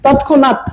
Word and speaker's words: তৎক্ষণাৎ: আর এই যে নটা তো এই যে মূর্ধন্য, দেখেন এখানে মূর্ধন্যের কিন্তু নিজস্ব উচ্চারণ নাই, দন্তান্নয়ের মতো উচ্চারণ হচ্ছে, তৎক্ষণাৎ।